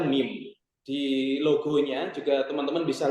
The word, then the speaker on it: MEM: kami dari mim publishing mim tulisannya m e m akan tetapi dibacanya mim di logonya juga teman-teman